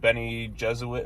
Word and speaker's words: Bene Gesserit: Paul Atreides has been with the Fremen, the Emperor and the Bene Gesserit.